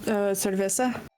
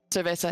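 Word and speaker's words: cerveza: This is like me with the word earlier that I couldn't pronounce. Yeah. Cvesa. Cervesa.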